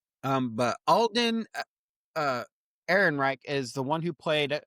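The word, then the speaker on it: Ehrenreich: Aaron Reich.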